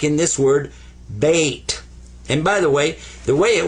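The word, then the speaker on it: بيت: Sukoon means don't pronounce it, but give it some value anyway. This is bait.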